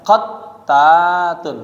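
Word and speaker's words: قتّات: Nah, bacanya tadi katanya bi fathil qaf. Jadi qa bacanya. Kemudian tasdidit ta, tanya di syiddah qattatun. Nah, bacanya qattatun.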